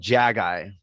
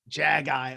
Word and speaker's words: Jaggi: It's called Jaggi. Jaggi, okay. Almost like jag off, like they would say in Pittsburgh.